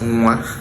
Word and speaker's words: nwa: So we pronounce nwa as nwa. Now, nwa is how we pronounce it.